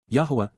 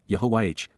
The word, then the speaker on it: Yahowah: Yahwa Yahwa God's personal and proper name pronounced Yahwh based upon haya to exist examines the genuineess back